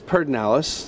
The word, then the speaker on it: Pedernales: from this part of texas um it is perdinellis i don't know why i don't know if you know why it's pronounced away it's just one of those things